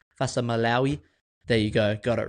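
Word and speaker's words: Fa'asuamaleaui: and Tino Fasa Maloi as prop for all those listeners that have corrected me and complained about me mispronouncing Tino's last name Fasa Maloi.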